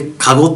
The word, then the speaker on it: 籠: の読み方で読むとこのって読むんですよ。